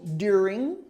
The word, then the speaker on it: during: this has to have during during this is where the emphasis is this is the accent is on the first syllable during you just have to have the r sound in there too during during during the